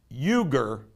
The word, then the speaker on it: Uyghur: time pronouncing this word i think it's euger the euger people apparently